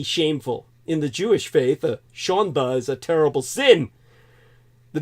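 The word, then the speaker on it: שאַנדע: I'm going to use a Yiddish ISM here shond really it's pronounced sha in Yiddish the word sha spelled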